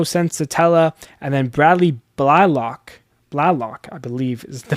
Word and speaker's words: Blalock: Ryan feltner Antonio sella and then Bradley block Blalock I believe is the pronunciation there He's listed as the five guy